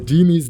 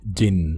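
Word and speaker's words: jinn: The genies that he's talking about is a wrong pronunciation of the Arabi word jin, which is a plural term.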